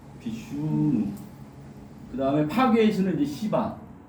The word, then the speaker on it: 시바: 그다음에 파괴의 신는 이제 시바. 발음을 세게 하시면 안 돼요.